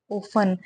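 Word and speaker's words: often: ऑफ यानी कि अक्सर इसे बोलते कैसे हैं ऑफ इसमें टी साइलेंट होता है ठीक है ऑफ का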